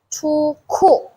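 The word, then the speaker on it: 出库: Ku, itu biasanya bacanya jadi ada kha ya. Chu ku.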